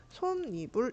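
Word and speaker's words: 솜이불: 그래서 발음을 어떻게 우리가 발음을 하게 되냐면 손입불 이렇게 발음을 하게 됩니다.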